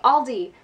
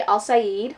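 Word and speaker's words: Alsaid: Let's Get Lost by I keep saying Aldi. It's not Aldi. The next book that I want to read is Let's Get Lost by Adi Al-Said.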